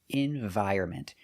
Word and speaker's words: environment: the Next Generation so remember pronunciation environment the N is silent and we can use